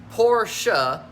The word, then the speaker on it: Porsche: to establish the name it's actually two words por sha it's like two syllables syllables right syllables are